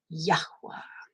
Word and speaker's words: Yahweh: You've got Yod He Wah He, but if you're going to pronounce it, Yod He Wah He would be Yod for the Y, Y, Y, He, Yah, Yah, Ooh, Ha, Yahuwah, Yahweh. See how that works?